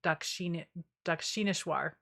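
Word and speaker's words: Dakshineswar: Harding, Kali, the black goddess of Dakshineshwar is how you say that.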